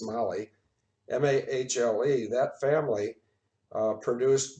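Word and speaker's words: Mahle: his family which was m-a-h-l-e that's pronounced mali m-a-h-l-e that family uh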